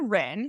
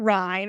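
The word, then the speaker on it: Rinne: I'm going to start with the Rin, sometimes called the Rhine or the Rinny. I've heard it pronounced either way. I say the Rin or the Rhine.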